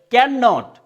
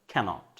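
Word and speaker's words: can't: দেন এটাকে আমরা কিন্তু একদম ভয়াবহ রকমের ভুল উচ্চারণ করি, অনেকে বলে ক্যান নট, না, আপনি এটাই কি বলেন, ক্যানট, ক্যানট।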